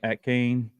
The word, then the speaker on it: Achane: Achane.